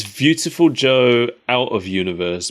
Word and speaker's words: Viewtiful Joe: Joe out of universe because in Japan beautiful and beautiful are pronounced identically and you're like viewing him because he's in a movie I guess that's a stretch but I believe it cuz they pronounce V's as B's in in Japanese generally don't they yeah